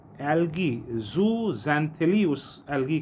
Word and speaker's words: Zooxanthellae: अब इन कोरल्स को, यानी पॉलिप्स जो हैं, वो एल्गी, ज़ूज़ैंथिली उस एल्गी का नाम है, उसको अट्रैक्ट करते हैं।